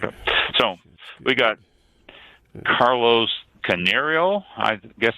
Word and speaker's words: Carneiro: So we got Carlos Canario, I guess it's pronounced. It's like Carnero. Canero, okay. CANEIRO. CARNEIRO. Yeah, CAR. Oh yeah, Carnero. Canero. Yeah. It's Portuguese.